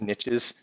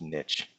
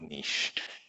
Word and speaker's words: niche: different kinds of organisms there were lots of niches that needed to be filled and with multicellular organisms came the ability to fill those by the way it is pronounced niche not niche niche this how you say it in French